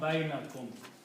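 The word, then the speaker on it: بينكم: And by the same rule, it will change to a fatah, so it becomes bainakum.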